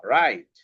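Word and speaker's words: write: এরপরে আছে silent W ডবলিউটা কখন সাইলেন্ট হয় ডবলিউটা সাইলেন্ট হয় যে ডবলিউর পরে যদি আর থাকে তাইলে ডবলিউটা সাইলেন্ট হয়ে যায় ঠিক আছে যেমন এখানে দেখো ডবলিউ আর আইটি তহলে এই যে ডবলিউ সাইলেন্ট হয়ে গেল তাইলে কি হলো আর আইটি আছে তাইলে আরইটা কি দেখতো এটা ম্যাজিক তহলে কি হবে র আই রাইট রাইট তারপরে দেখ আবার কি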